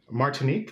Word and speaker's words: Martinique: A couple in Martinique. Is that how you say it? Martinique.